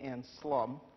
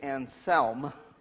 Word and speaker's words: Anselm: Anselm. It's St. Anselm. Like, it rhymes with helm, like helmet.